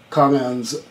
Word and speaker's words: kong-an: which is, has some kong-ans. How do I pronounce that again? Kong-an. Kong-an, right. Koan, kong-an. Koan is Japanese, and right. Kong-an is Chinese and Korean.